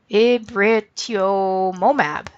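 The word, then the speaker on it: rituximab: this name here it writ to Mon AB it writ yomo map that's how you say it so that would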